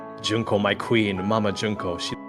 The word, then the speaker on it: Junko: I'm glad we could teach you how to pronounce junko junko my queen mama junko she pretty epic I